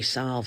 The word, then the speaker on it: salve: Can't really even put any salve on it yet. I just have to wait. Salve? You know, wait I don't think you're supposed to pronounce the L in salve.